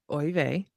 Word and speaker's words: Oy vey: So, I've got Oy vey. And please feel free to correct my pronunciation because So far, so good.